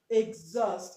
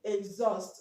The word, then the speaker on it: exhaust: this word is pronounced exhaust okay exhaust okay now the H here is silent okay that is a